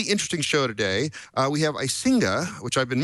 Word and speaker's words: Icinga: We have Icinga, which I've been mispronouncing for the last 7 shows, I now realize.